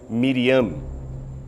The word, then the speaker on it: Miriam: língua original de Jesus o nome Maria era pronunciado como miriano o significado exato desse